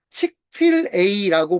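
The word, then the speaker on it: Chick-fil-A: 미국에 칙필 A라고 하는 프랜차이즈가 있어요. 치필 A. 여러분 잘 안 들어본 분들이 더 많을 거 같아요. 저도 최근에 알게 된 브랜드예요. 칙필 A라고 보통 발음을 하더라고요.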